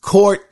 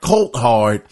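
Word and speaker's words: Coulthard: Once again, her name is Miss Alice Courthard. It's spelled C-O-U-L-T, Hard, Courthard.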